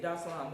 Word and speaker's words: Dar es Salaam: I'm Dar es Salaam. Dar es Salaam. Eventually I'm gonna say it like they said. Dar es Salaam. It's like one word instead of like 3 words, right?